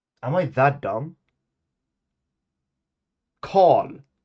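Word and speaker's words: kal: Call.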